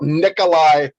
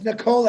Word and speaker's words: Nikola: caught you're talking about nikolai tesla no it's nicola actually if you pronounce it correctly okay i beg the